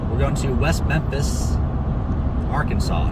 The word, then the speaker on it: Arkansas: settlers in the region the word arkansas is pronounced with a silent s at the end interestingly it is against state law to mispronounce the word arkansas while in the states